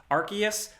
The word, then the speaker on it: Arceus: Also, along with that, we have a big gameplay overview breakdown for Pokemon Legends Arceus.